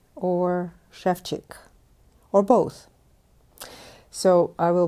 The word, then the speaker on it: Ševčík: And in Ševčík, no, it's not Ševčík. If you notice that there are little thingies over S and over C, and they make them into sh and ch in Czech language.